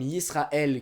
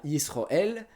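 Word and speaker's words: ישראל: Les plus notables sont certains sons A en séfarade qui deviennent des O en ashkénaze, comme Yisraël qui devient Yisroël, ou Amen, oui c'est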